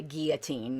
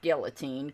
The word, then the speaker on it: guillotine: I need to read that Reflections on the Guillotine, not guillotine. Come on, let's pronounce it right.